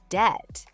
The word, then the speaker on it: debt: Number 11, debt. Remember, the B is silent.